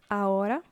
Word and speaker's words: ahora: So, ahora means now. Remember this, because we will be using this term a lot. Ahora, now. Ahora, remember the H is silent.